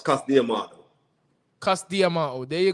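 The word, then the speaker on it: Cus D'Amato: repeat the pronouncing but in the uk they say custom all but it's not it's cast diamond cast diamond oh there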